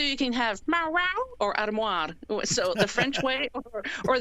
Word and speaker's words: armoire: Like it's supposed to be armoire in French, but the book I still can't say armoire.